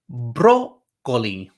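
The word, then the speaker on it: brócoli: okay we have el broccoli right the accent makes you emphasize that first syllable el broccoli broccoli a you try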